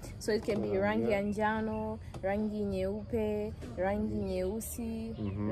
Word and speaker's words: njano: So yellow means is pronounced njano.